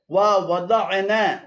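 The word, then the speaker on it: ووضعنا: এখানে ওয়া এবং দা'না উভয়টি ভুল উচ্চারণ। শুদ্ধ উচ্চারণ হবে ওয়া ওয়াদা'না 35 নম্বর সূরাতুল বালাদের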